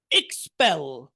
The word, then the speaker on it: expel: expel, এখানে এই এক্স এর মধ্যে একটা এস এর উচ্চারণ আছে, এক্স এস, সেজন্য এই ফিটা এখানে পয়ের মতো উচ্চারণ হবে। মূলত উচ্চারণ হচ্ছে ফি, কিন্তু এখানে হবে পয়ের মতো।